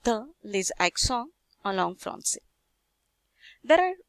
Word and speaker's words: français: Usually C is pronounced as a K, but when we put this accent, the pronunciation becomes C, français.